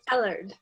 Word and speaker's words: Ellard: Is that the way you pronounce it, Ellard? It's Ellard.